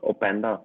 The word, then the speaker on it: Openda: Then Luis Opinda from Lyon. Is it? How do you Yeah. say it? Yeah, that's Openda. That's fine.